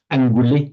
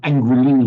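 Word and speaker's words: aṅguli: I've reassured myself that in Sanskrit, then we go to the Pali, anguli with a short e and anguli with a long e are both equally correct, both meaning a finger.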